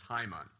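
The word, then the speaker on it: Hamann: be pointed out that the proper pronunciation of his name in German is Haim on today the threat to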